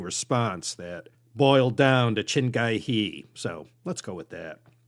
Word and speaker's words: Chin Gee Hee: very authoritative sounding response that boiled down to chingai hee so let's go with that I'd call him